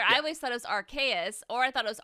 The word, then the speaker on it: Arceus: about pokemon legends okay is it archaic or arceus how do you say it arceus is it is that right it took me the